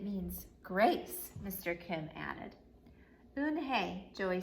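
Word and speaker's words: Unhei: to joey and she nodded slowly yes it's pronounced un hey and it means grace mr kim added oon hey joey said slowly and this time perfectly that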